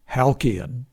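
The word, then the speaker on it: Halcyon: It may have been pronounced Halian.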